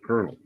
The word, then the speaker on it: colonel: But we, for some reason, Americans pronounce it Colonel. And yeah, and in Spanish is with an R. I know in English it's pronounced with an R, but I've always said Colonel.